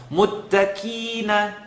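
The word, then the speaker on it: المتقين: Muttaqina, kina, kima, Quran kani is wrong. Muttaqina, muttaqina. It's still living behind the uvula. It's still holding its integrity as a heavy letter, and it's just being pronounced not so heavy.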